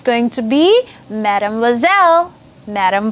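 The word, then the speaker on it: mademoiselle: unmarried girl then it's going to be Madame wazelle Madame bozell very good and if Madame or someone who's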